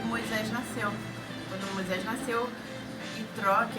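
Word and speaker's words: יתרו: O nome dele em hebraico é Itró, porque no hebraico não tem a pronúncia de J, né? Tipo Já, Gege, então seria Itró. Itró, ele tinha vários nomes, né?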